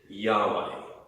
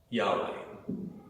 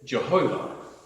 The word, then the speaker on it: Yahweh: a masculine prefix and as far as can be known this is best pronounced Yahweh Yahweh there was a time when it was rendered Jehovah but this really it's a strange latinized version of the phrase which